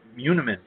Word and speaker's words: muniment: Oh, so the not monument of title, as I've heard it say here, but muniment of title that my probate lawyer tells me is how it's pronounced.